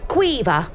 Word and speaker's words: Quiva: Quiva. Quiva? Pronounce the V. It's a hard V.